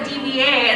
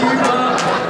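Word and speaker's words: D.Va: What's funny though is I'm the one who I didn't know her name was like that you pronounce it Diva. I was like, oh, it's like DVA, and my roommate was like, you're stupid Francis, it's Diva.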